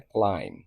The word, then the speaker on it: climb: Middle کا مطلب درمیان۔ کلائم، اس کے سپیلنگ ہوتے ہیں CLIMB، لیکن بی اینڈ پہ سائلنٹ ہوتا ہے اور اس کا پروننسیشن بنتا ہے کلائم۔ کلائم کا مطلب ہے